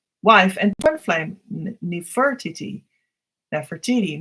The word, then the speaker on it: Nefertiti: Nefertiti, maybe they say, but I think I've heard that it should actually be pronounced as Nefertiti.